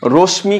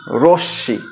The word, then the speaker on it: রশ্মি: উচ্চারণটা নেইম যেমন রসী রশমি কিন্তু আমরা অনেকেই বলে থাকি কিন্তু রশ্মি হবে না। রসী রশ্শি অর্থাৎ এখানে ম ফলাফলা অনুচ্চারিত রয়ে গেল বা ম এর উচ্চারণটা থাকলো না।